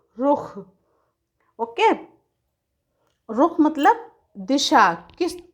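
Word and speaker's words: रुख़: देखिए यहाँ पे ख में एक छोटा सा डॉट लगाया गया है, तो इसका उच्चारण होता है ख, यानी मुंह से थोड़ी सी हवा निकाल के, रुख।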